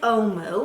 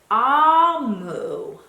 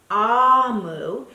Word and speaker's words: Omu: I read her message Oh Moo is pronounced ah-whoo ah-whoo and it is the Igbo term for queen so what I read